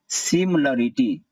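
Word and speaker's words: similarity: इसका आंसर है सिमिलरिटी, CIMI को पढ़ेंगे सिम, सिमी नहीं सिम, और LA को ल, और फिर RITY को रीटी।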